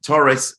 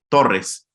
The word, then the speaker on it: Torrez: Mexican right so uh Torres Taurus you you pronounce in English but but in Spanish you pronounce Torres so I truly believe